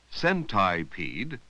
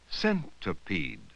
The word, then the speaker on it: centipede: So instead of saying centipede, we say centipede.